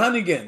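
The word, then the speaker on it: Honeyghan: think the way you took care of Lloyd Hunnigan, did I say it right, guys? Yeah, Hunnigan.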